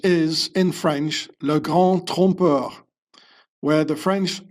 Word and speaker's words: trompeur: So officially in the Bible they talk about le grand trompeur. See the O, Trump, it's pronounced almost the same as the American, the U.